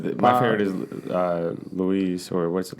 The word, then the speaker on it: Louise: It's My favorite is Louise, or what's it, Lois? How do you pronounce her name? Is that Louise. It's Louise.